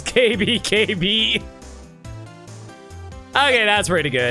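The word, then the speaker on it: 警備: security is a pun oh security is pronounced KB in Japanese oh it's KB KB okay that's pretty good uh let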